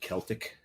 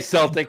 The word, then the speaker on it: Celtic: when we go there please pronounce it Celtic don't say Celtic sayel Celtic is a basketball team and only a basketball team yeah I want